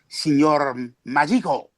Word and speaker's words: Signor Magico: Which of course I'm not even pronouncing it properly. It's Signor Magico.